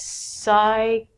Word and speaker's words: psychology: These are words that we do not say the P. The first one's a really long word. It means psychology.